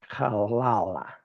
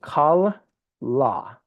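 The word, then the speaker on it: כלה: And actually, we'll say kal la, not kalala. Which the way that I could explain this is there's two lameds, but you pronounce the first part kal and the second part la with no no vowel in between. So it's kalla, okay? And you put emphasis on the last syllable, kalla, okay?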